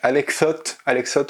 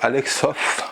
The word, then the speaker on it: Alex Soth: Alors, je sais que quand je parle vite, je dis Alex Soth en un mot à la française de façon un peu dégueulasse. Il faut dire Alex Soth à l'anglais, c'est très chiant à prononcer, vous pouvez vous en plaindre en commentaire.